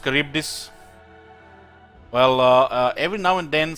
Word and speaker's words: Charybdis: their bone model during the firing animations it's pronounced Charybdis well every now and then some wise guy